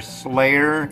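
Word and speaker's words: Sleigh'r: and some of their Slayer. It's like, not spelled like Slayer, but it's like a Christmas sleigh. R.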